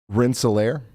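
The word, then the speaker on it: Rensselaer: Renelier and Wheatfield. A new tornado warning has been issued. Rinsolair.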